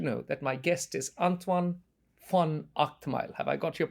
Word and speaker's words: Antoine van Agtmael: EO podcast should know that my guest is antoan f Ile have I got your pronunciation correct absolutely yes brilliant now antoan um